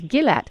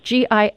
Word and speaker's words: Gillath: Gillath? I do. is spelled, and his last name, like the beautiful resort town in Israel, Eilat, it's Gillath, Gillath, at the Department of Psychology, University of Kansas.